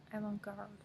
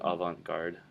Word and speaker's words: avant-garde: This is a French word, so people are saying it wrong anyway.